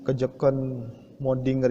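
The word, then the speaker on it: Kjøkkenmøddinger: ke Joken mode Dinger agak susah ya bacanya ini dikarenakan ini merupakan dari bahasa Denmark dari bahasa Denmark nya kejap cone modinger itu apa ke Joken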